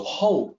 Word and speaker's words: 厚: see the opinion there the hou is pronounced like h o ho and then there's one